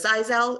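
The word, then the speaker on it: Xyzal: And those medications are the Zyrtec, the Allegra, the Zizal, it's spelled in the XY, ZAL, it's the Claritins, it's the Alavert.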